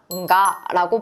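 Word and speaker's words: が: 우리나라 기역의 발음과는 조금 달라서 콧소리를 섞어서 가라고 발음을 해 주는게 더욱 정확합니다. 그러니까 우리가 가라고 하는게 아니라 응가라고 발음하는 것에 유의해서 발음을 해 보시고요.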